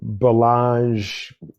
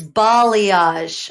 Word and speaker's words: balayage: and go get your bellage Balayage people say it wrong it's Balayage oh my god I've